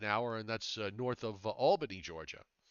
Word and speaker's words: Albany: and that's north of albany georgia they pronounce it the same way as albany new york so there you go